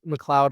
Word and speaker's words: McLeod: I know it looks like McLeod or McLeod, but it is pronounced McLeod, like the clouds in the sky.